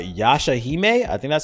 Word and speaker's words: Yashahime: my name is uh yasha hime i think that's how you say yashahime princess half demon it's spelled y-a-s-h-a-h-i-m-e ya shahime uh princess half-demon and